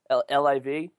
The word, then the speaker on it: LIV: there was a party I think you pronounced it Liv is that is that correct guys livv that's accurate all right good dougen probably's